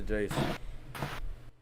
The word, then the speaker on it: Iayze: It's pronounced Jace, bro.